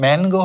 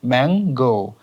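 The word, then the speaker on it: mango: আর এটা হলো গো, এটা ম্যানগো হবে না, এটার উচ্চারণ হবে ম্যাঙ্গো।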